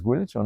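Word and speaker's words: Guillochon: And it was a 2015 paper with you and James Guilichon. Right, that's how you pronounce it.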